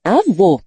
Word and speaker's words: avô: Acento agudo, O, que indica uma vogal com som aberto, como em avó. Acento circunflexo, chapéu, que indica uma vogal com som fechado, como em avô.